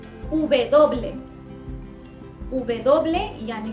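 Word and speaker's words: uve doble: दोनों ही प्रोनाउंसिएशन बिल्कुल ठीक है। उबे दोबले, उबे दोबले यानी कि W, इसे स्पेनिश में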